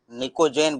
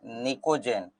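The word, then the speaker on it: pnictogen: और बोलते हैं क्या निकोजन निकोजन बोलते हैं और पी साइलेंट होता है यहां पर है ना तो निको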